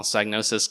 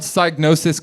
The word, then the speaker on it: Psygnosis: In the original Psygnosis Classic, the P is silent, but in the PC game, the P is pronounced.